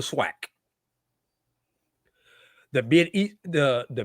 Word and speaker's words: SWAC: The Southwestern Athletic Conference, we say the swack.